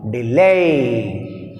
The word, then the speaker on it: delay: Delay. Lay is second syllable. D is weak prefix. That's why we have stress on second syllable.